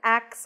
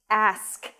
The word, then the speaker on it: ask: Okay, so I've written axe on this card, but it's ask, A-S-K, let me ask.